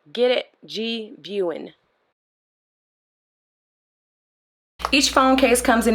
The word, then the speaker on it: GVIEWIN: The name is pronounced GVIEWIN. GVIEWIN, as if you're viewing something. Get it? GVIEWIN.